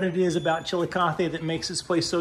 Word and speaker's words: Chillicothe: It's pronounced Chillicothe.